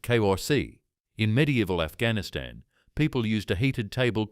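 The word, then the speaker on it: کرسی: In 18th century Iran, households gathered around a heated table called a cosi pronounced kori.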